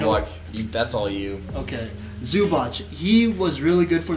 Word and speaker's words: Zubac: Ivica Zubac? Zubac. With that guy. Good luck. That's all you. Okay. Zubac.